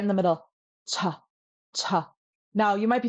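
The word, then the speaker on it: ཅ: Cha, cha.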